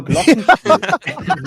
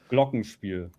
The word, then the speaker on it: Glockenspiel: I have a Glockenspiel. Oh, dude, just keep saying Glockenspiel. That sounds amazing. I mean, the funny thing is, I pronounce it like it's an American word, but it's Glockenspiel. You would say Glockenspiel.